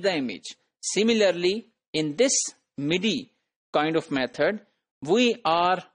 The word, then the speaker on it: MIDI: So, then there is an alternate method known as MIDI, which is pronounced as MIDI.